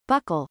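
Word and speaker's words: buccal: their ability to buckle pronounced like buckle pump a way of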